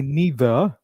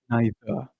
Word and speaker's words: neither: You can pick the one which you like but make sure that R is silent. We do not pronounce R in the end of it. So we say neither or neither.